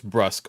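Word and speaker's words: brusque: I'm actually confused how this word is pronounced. Oh, it's brusk.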